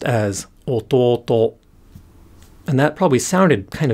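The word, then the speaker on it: 弟: word this means that the pitch starts low goes up and then stays up until the last syllable of the word but then the particle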